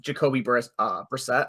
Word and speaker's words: Jacoby Brissett: They have their backup that they brought, like that they signed, so like Jacoby Brissett, I believe it's how it's pronounced, and Josh Dobbs.